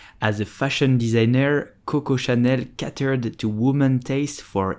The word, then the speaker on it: Chanel: luxury goods and accessories so how do you pronounce Chanel it's very simple you would say Chanel Chanel Chanel did you know that you know